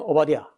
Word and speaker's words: 오바댜: 영어로 디 같은 발음이에요 그래서 오바드야 아 빨리 하면 오바디야 오바디야 오바드야 이렇게 그 어 경 경배하는